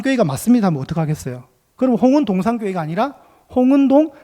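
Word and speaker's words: 홍은동산교회: 되잖아요 제가 홍은동 이니까 홍은 한번 쉬고 동산 교회로 읽어야 되는데 홍은동 산교회 아 아니구나 홍은동 교회가 아니겠네 그래서 제가 다시 읽은게 아 홍은 동산교회 그런데 여러분 설립자 목사님이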